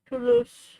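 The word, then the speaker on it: Toulouse: With the first sound like the word to and the second syllable sounding like the word loose.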